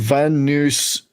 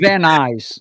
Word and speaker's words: Van Nuys: Van Nuys. Van Nuys. Yeah, just say it as one word.